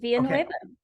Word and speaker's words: Villanueva: Her name is Villanueva. Villanueva? You said it right, Okay. Villanueva.